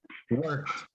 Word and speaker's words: worked: The pronunciation is with T, worked.